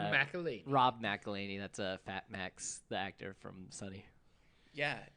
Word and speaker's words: Max: I thought you were going to tell me it was Mad Mac. Nope. Mad Mac. Max.